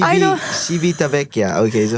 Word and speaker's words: Civitavecchia: Civitavecchia. I know. Civitavecchia.